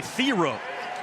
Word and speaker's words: Thiero: I called him Thiero the last couple of years in Kentucky because that's what his name was. But then he gets to Arkansas, and they ask him how do you pronounce it properly. He says it's actually Thiero.